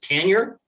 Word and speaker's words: Tanier: And Mike Tanier. Tanier, is it like Carmine Appice and Vinny Appice with you, or Kelsey and Kelsey? Is it Tanier?